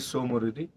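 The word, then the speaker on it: Tso Moriri: नहीं तो हम TSO को टसो, कोई टीसो, कोई कुछ बोल रहा था, कोई कुछ बोल रहा था। तो दैट इज सो मोरोरी। वैसे मैं सोच रहा था कि वो टी साइलेंट होगा, लेकिन आज कंफर्म हुआ।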